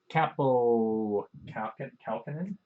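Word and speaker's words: Kaapo Kähkönen: Capo Kalkinen.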